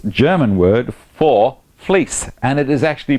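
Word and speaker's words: Vlies: e s v lies but it's German word for fleece and it is actually pronounced F you needed to know you needed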